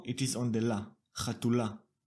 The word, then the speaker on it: chatula: One thing that strikes the eye is that the stress has moved to the last syllable. It is ultimate stress. The first instinct is to leave the stress like it is on the masculine version chatul and just add the la.